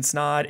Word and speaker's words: Snod: My name's Snod. It rhymes with odd, and welcome to another video.